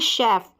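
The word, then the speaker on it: chef: और भी ऐसे स्पेलिंग्स फिर देखिए शेफ यहां पर सी एच को जो शेफ की स्पेलिंग आती है ना यहां पर सीच को श पढ़ते हैं तो सीच के तीन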